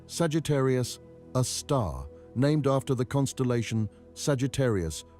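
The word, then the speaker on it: Sagittarius A*: of Mercury we call it Sagittarius a star pronounced Sagittarius a star named after the constellation Sagittarius ious where it appears in our sky.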